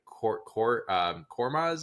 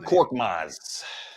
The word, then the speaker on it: Korkmaz: Not only did they trade for Buddy Hield, they got rid of Marcus Morris and Kormaz is his name. I always mispronounce his Furkan name. Korkmaz.